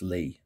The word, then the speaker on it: Lie: fragrance is antoine lee spelled lie which is lie in english but it's actually pronounced lee i believe i hope